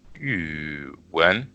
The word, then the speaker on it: 语文: 语文 Yeah, like when you nod your head, you first nod it down and then you nod it up. So it's 语文. 语文 Yeah, what I was pronouncing.